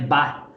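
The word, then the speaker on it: Baath: com o partido bar tá não se escreve só bea ele é escrito de uma maneira um pouco diferente mas a pronúncia dele que a gente chama é bar e esse partido e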